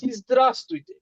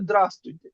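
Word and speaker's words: здравствуйте: উচ্চারণ যেমন এটা হবে ইসদ্রাস্তুইতে, ইসদ্রাস্তুইতে, ইসদ্রাস্তুইতে, এটা এখানে ভ্যাটা উচ্চারণ হবে না, বুইতে হবে না, এটা তুইতে হবে। তো এটা ইসদ্রাস্তুইতে, রাশিয়ানরা কি বলে দ্রাস্তুইতে, রাশিয়ানরা জাস্ট বলে দ্রাস্তুইতে, কিন্তু এটার প্রপার স্পেলিং হলো ইসদ্রাস্তুইতে, ইসদ্রাস্তুইতে।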